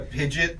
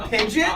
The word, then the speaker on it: Pidgeot: like uses like a Pidgeot just to commute to work. A That's- what? A Pidgeot? I'm sorry? A Pidgeot?